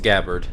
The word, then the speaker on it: Gabard: that pitch fouled away according to baseball reference it's pronounced gabard so that's what I'm